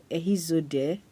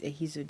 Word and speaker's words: Ehizode: My name is Zode, Ehizode. So most times when I say my name, Zode, like, where are you from? So it's Ehizode, and I'm from Edo State in south of Nigeria.